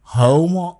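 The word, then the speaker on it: haoma: সোমকে আমি অনেকবারই বলেছি জিদন্ত সটা ওরা হ উচ্চারণ করতেন অন্তত সেই কালে সেখানে ওরা বলছেন হোম কিছুদিন আগে সোম এবং হোমো নিয়ে একজন সাহেবের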